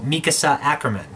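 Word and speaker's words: Mikasa Ackerman: characters of the show, Mikasa Acriman. And yes, that is the official Japanese pronunciation of the name.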